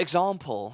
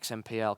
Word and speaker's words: XMPL: As an example. Yeah. Yeah, of course it's an example, not XMPL.